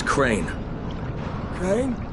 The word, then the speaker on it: Crane: the video store no my name is crane crane rhymes with train and brain and sang and grain